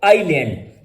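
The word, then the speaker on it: island: जैसे इसलैंड लिखा होता है तो हम पढ़ते हैं आईलैंड।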